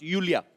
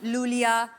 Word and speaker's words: Iulia: pronounce Yulia. Yulia. And the spellings are IULIA. LIA. So I Thank क्यों God मतलब? you know. I mean, why I? Thank God. Everyone is calling me Lulia, Lolia.